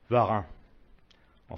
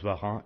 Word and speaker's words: Varin: un exemplaire de 1975 Varin en fait on prononce Varin et non Varine de taille 56 a